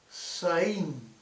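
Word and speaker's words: זַיִן: Si nosotros queremos nombrar en hebreo el día 7, este se pronuncia Saín, es decir, con Z, Saín.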